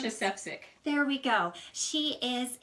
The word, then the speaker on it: Marsha Sefcik: How do you pronounce? Marsha Sefcik.